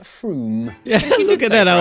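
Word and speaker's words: Frome: from f-r-o-m-e it should be blitheringly obvious it's pronounced froome yeah look at that i was right don't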